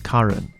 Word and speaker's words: Karun: By the way, I'd like to mention that in prior episodes, I mispronounced Samia's last name. It's Karun, and I'm sorry it took me this long to get it right.